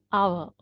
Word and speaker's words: hour: honest and this is our right so even though we have h we do not pronounce it right so i just